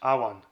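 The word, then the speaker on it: Emain: Within this picturesque valley nestles Boyne, which is in turn envelopes the arcane Emin, pronounced Awan.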